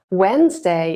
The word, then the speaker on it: Wednesday: Wednesday is written with a D in the middle. that's often silent when we speak.